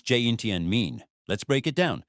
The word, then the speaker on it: 今天: What does ginten pronounce jinten mean?